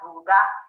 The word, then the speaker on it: Ruga: Yeah, it's actually pronounced Ruga, which is colonization.